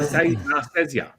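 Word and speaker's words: Nicieza: Rob lield and Fabian naria Nar naria I believe is how you say it um now that is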